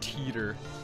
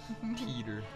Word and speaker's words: Titor: Pronounced teeter. I like that. Teeter.